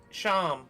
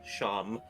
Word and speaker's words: Seam: The name's Sham, pronounced Sham, pronounced Sham, spelled seam.